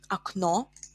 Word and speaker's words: окно: Например, окно, a window, окно. We have o ending here, so in plural, окно becomes окна, окна. In singular, окно, or the second o is stressed, окно.